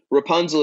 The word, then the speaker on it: Rapunzl: So Rapunzl is spelled R-A-P-U-N-Z-L. It's like the fairy tale, except there is no E.